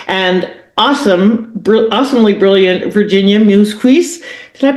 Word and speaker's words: Muzquiz: awesome awesomely brilliant Virginia Mookerjee. Did I pronounce it right? Close enough. Mookerjee? Mookerjee. Think moose like the animal, keys for your car.